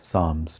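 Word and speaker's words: Psalms: जबूर को साम्स कहते हैं। पी एस ए एल एम एस साम्स P silent है।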